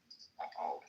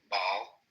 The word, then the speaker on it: Baal: Baal. You guys pronounce it differently. Baal. It's pronounced Baal. In Hebrew, yeah. We pronounce it Baal.